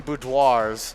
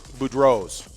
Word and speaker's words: Boudreau's: i'm saying it wrong we've been saying boudoirs yeah and it's boudreau's food rose bar in saint